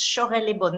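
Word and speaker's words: Chorey-lès-Beaune: So some people don't know how to pronounce. So it's Chaurey, like you say, shoot. It's Chaurey Le Bon, not Corey. So right. I am always often the question. Chaurey Le Bon, but you say it very well, Wendelin.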